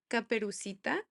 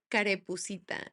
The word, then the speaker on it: Caperucita: So it's Caperucita in Spanish. Okay. And I would say Carepucita. Like I would just flip the syllables around.